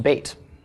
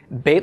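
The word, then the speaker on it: בית: things it's in the contract States so it's pronounced bait okay bait let him means House of bread and that's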